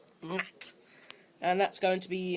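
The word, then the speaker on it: Gnat: I think it's Nat, you pronounce it? Yeah, G-N-A-T. Nat.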